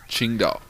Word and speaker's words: Tsingtao: We're doing, how do you pronounce it? Tsingtao.